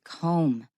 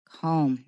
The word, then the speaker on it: comb: tuned for shoots it's comb to comb don't pronounce that final B so our title reads